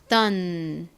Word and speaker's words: done: O가 O 소리가 아니라 어 소리가 나서 done 이렇게 소리가 나요. 디귿 소리 나는 D, 어 소리, 그리고 N은 니은 받침. E는 떨거지 별 소리가 나지 않죠. 그래서 이렇게 발음합니다.